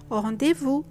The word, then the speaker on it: rendezvous: class, faux pas to indicate a tactless act, rendezvous to mean a meeting, à propos to say with regard to.